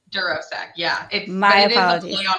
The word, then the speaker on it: DuroSec: And I think I pronounced your business name wrong. It's DuroSec, right? DuroSec.